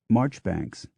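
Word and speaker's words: Marjoribanks: r is Lucen Gore m a r j o r i b a n k s is marchbanks h s Cox is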